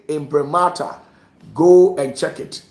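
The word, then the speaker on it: imprimatur: And when you say impremata, go and check it. I can spell it out for you. Impremata. Impremata. I m p r i m a t u r.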